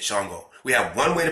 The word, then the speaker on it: Shango: We got one way to pronounce Shango. We just said it, Shango.